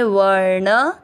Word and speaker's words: वर्ण: चौथा चरण जा य में अ मिक्स करेंगे जायते, व ण के ऊपर आधा र व के साथ व, ण में अ मिक्स करेंगे वर्ण, स के ऊपर बिंदी